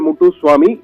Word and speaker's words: Moutoussamy: இவர் பேர் Samuel முட்டுசுவாமி. MOUTOUSSAMY என்ற வகையிலே மூட்டுசுவாமி என்ற வகையில முத்துசுவாமி என்பதுதான் மூட்டுசுவாமி என்ற வகையில அவர்கள் மொழியில அப்படி உச்சரிக்கிறார்கள் அதை.